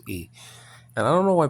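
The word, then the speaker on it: η: It's pronounced differently in modern Greek. It's not hey, it's E.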